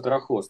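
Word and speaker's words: τροχός: Только, наверное, не трохос, а трохос. Там два слова есть. С ударением на последнем слоге. Ну, на первом с конца.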